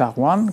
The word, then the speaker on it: Aghvan: Ce sont les Albanais, les Arwan, comme prononcent les Arméniens.